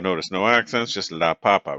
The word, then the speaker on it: papa: no accents just La Papa right um typically if a word in Spanish ends in a vowel we we stress the the syllable right before the last one right um this